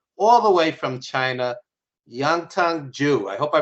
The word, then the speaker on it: Yantong Zhu: the bright side all the way from china yangtong joo i hope i pronounced that correctly how are you ma'am hello hello hello hello hi um yes my name is yan hong zhu i live in beijing um i've never been